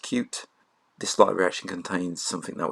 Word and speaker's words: Qt: code in here so QT is a cross-platform library it's actually pronounced cute this location contains something